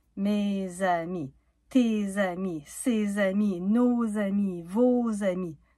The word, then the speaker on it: mes amis: Pas "mes amis", "mes zamis".